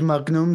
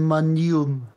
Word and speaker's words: Magnum: ist richtig magum und bei Magnum sagen sie auch nicht Magnum sondern manum ja ja liegt das